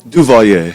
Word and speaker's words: Duvalier: Duvalier? Did I pronounce? Duvalier. Okay. Duvalier. Ding, ding, ding, ding, ding. That's what I said it was going to be.